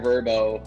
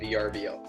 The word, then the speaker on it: Vrbo: company this is real this is how they pronounce it like no it's like okay you go tell mr verbo that it's a vrbo there you go right right anyway ryan sorry